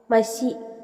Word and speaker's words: മഷി: ആശ ആശയ അല്ല ആശ മഷി മശി അല്ല മഷി സ പറയുമ്പോഴും ചിലർ തെറ്റിക്കാറുണ്ട്